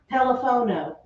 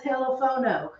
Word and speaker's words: teléfono: They know what you mean, but that's not how you say it. How do you say it? Teléfono. Now, it ends in a vowel, so it should fall right here. It should fall. That's why people say telefono, but it's incorrect because there is a written accent.